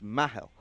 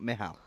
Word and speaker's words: Mahal: I say Mehal. It's Mahal. Is it Mahal? Mahal, not Mihal.